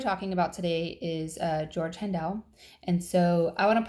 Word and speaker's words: Handel: So I'd be willing to bet that in Germany, the people that spoke to him, I'm sure it was probably pronounced Handel, and that's probably the proper way to say it.